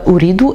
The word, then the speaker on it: Ooredoo: choisi selon holly doux écrit donc en anglais avec 2o et non pas 2 0 au début et de zoo à la fin non pas de zéro à la fin qui se prononce ou en anglais et read our head comme la couleur rouge donc la marque et